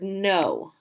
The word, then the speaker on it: know: So like this is the word no. That K is silent. It just wants to be there. It's sneaky silent. So when you see this word, it's not kno, it's no. The K is silent.